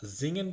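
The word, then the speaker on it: singen: ঠিক আছে, এখানে কিন্তু আপনারা জিঙেন পড়লেন, এখানে কিন্তু আপনারা সিঙেন বলেন নাই।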